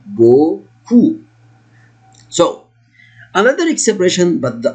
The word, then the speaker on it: beaucoup: This is O and this one is double O. I say ou, beaucoup.